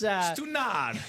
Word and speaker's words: stunad: All right, so it's, how do we say that properly, Mike? Stunad? Stunad, yeah. Stunad. It's Stunad.